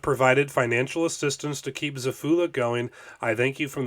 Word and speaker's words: Xephula: even pronounce this right Zula I think that's how you say it x e p h